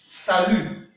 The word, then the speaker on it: salut: Salut, salut. Le T n'est pas prononcé. Salut in English means hi, hi but informal. And in French, the T is not sound.